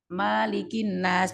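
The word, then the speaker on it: مَلِكِ النَّاسِ: Kita membacanya malikin nas. Boleh nggak dibaca panjang, boleh dibaca pendek ya. Kalau di Brunei Darussalam dibacanya panjang, kalau kita dibaca pendek.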